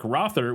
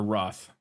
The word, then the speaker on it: Roth: the project kind of stalled then uh Eric rthur was brought or Roth right what I say his name you had